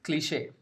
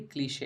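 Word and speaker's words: cliché: ये word English का नहीं है, ये वर्ड फ्रेंच से आता है, इसीलिए इसका प्रोनाउंसिएशन थोड़ा सा डिफरेंट है। नॉर्मली जब भी ई पे आप ऐसे एक लाइन देखेंगे तो इसका जो प्रोनाउंसिएशन है वो होगा ए की तरह। सो it will be क्लीशे, it will not बी क्लिश।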